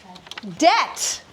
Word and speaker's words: debt: So the next one, if I gave you the word debt, a debt has a silent letter.